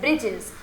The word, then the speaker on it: breeches: The writer hair spells it फॉर फन to rhyme with the word which. तो देखो ब्रिचेस और विच same sound हो गया, rhyming word हो गए,